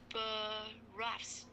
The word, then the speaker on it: boroughs: They serve the boroughs. Is that right? Is boroughs. Boroughs. So GH is silent.